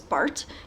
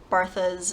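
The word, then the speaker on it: Barthes: I was told to say it was Bart, but people call him Barthas and Bartas and all that stuff.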